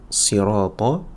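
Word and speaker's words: صراط: le sad directement donc on fait attention à bien prononcer un si si si pas un si si la différence entre les deux c'est quoi c'est que pour le sad d'accord ici je vais avoir l'arrière de la langue qui va se relever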